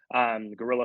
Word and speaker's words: guerrilla: Guerrilla spelled like the animal and then 76.